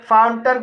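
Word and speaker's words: fountain: फाउंटन शब्द में दो सिलेबल हैं, पहला सिलेबल फाउन है और दूसरा सिलेबल टन है, और लास्ट वाले सिलेबल में ए आई के बाद एन आया है, इसलिए ए आई का उच्चारण आ होगा, इसलिए इसे फाउंटन पढ़ा जाता है।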